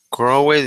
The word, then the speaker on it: crowded: Now the pronunciation here is crowded. Crowded. Lleva una D en medio. Crowded. ¿Lleva una qué, perdón? La D, esta hay que sonarla.